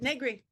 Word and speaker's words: Negri: Negri. Okay, it rhymes with nothing. It rhymes with My whole life I was born a Negri. It rhymes with word nothing. Nothing. Vaguely rhymes with vaguely Negri.